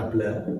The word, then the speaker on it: nabla: Ini cara membacanya nabla.